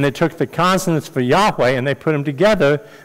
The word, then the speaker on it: Yahweh: But most scholars believe that now the way you pronounce it is Yahweh.